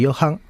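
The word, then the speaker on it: Jochen: pronunciar mejor que yo se escribe josen yo creo que se pronuncia Johan Johan rind si es alemán es Johan Sí yo creo que es Johan eh Johan rind como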